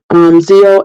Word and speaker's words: Xio: And this is from Zio Axelrod. I hope I'm pronouncing her name right, but if I know people know who she is, it's spelled Xio. I'm going to say Zio Axelrod, but coming February the 6th, Girls with Bad Reputations.